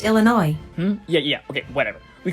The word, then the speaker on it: Illinois: should just call Illinois um sir it's actually pronounced Illinois yeah yeah okay whatever we call it Chicago